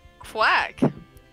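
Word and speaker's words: Qwac: Quack. That is the name of the town. Q-W-A-C. Q-W-A-C? Yeah, but it's pronounced like the normal spelling of quack.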